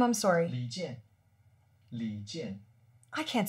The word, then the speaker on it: 李健: Li Jian. Li Jian. I can't say that. Li. Li. Li. Li. Jian. Jian. Yeah, that's it.